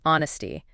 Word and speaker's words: honesty: Moving on, a trait that often goes hand in hand with integrity is honesty. Zia, how do we pronounce this one? Honesty. This one is interesting because the H is silent.